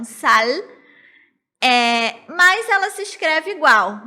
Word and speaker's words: sal: Porque o L do espanhol a gente pronuncia lá no céu da boca, então sal.